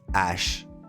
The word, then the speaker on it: H: an a to H so we say it like ash exactly like Ash Ketchum if that can help